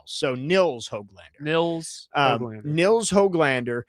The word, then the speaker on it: Nils: It's Nils Hoglander, not Niles. So Nils Hoglander.